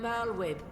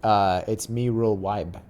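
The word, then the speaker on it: Merlwyb: I am Merlwib, Admiral of Limsa Laminsa. She said her name wrong. It's Mirul Wibe.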